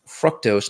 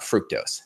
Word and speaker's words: fructose: He, in a conversation we had, it's pronounced fructose, not fructose, just for all you people out there on the grammar police side.